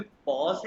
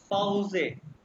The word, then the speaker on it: Pause: अच्छा ये इंग्लिश में पॉज है, लेकिन देखो ये जो मैंने कहा हर अल्फाबेट्स को प्रोनाउंस करते हैं, अल्फाबेट्स आने चाहिए। ई को ए कहते हैं, तो ये बन गया पाउजे, ब्रेक, कॉमन टू कम,